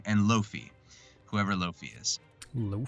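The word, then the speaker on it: Laufey: me it was here it is wait low low fee it looks like Oh Volstagg and low fee bull stock I pronounced it wrong and low fee whoever low fee is lau fe y but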